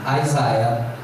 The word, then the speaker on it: Isaiah: Primeiro profeta maior, major quer dizer maior, primeiro profeta maior, Isaiah, se pronuncia assim, Isaiah, que significa Isaías, como vocês podem ver aí no vídeo.